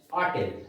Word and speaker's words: hotel: Now next one, we had our breakfast at an hotel. Although the word hotel is written with the beginning of letter H, yet the sound is O, and that's why article N will be used.